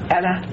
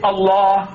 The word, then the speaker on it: Allah: as you like, but pronounce my language the way I want you to. Say Allah. No, you can't. It's difficult. Your tongue is not easy. You say Allah.